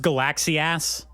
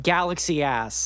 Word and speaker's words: Galaxius: a anime it's pronounced Galaxy ass by the way you have really you have to really put the ass on the ass of it there Galaxy ass yeah g Galaxy ass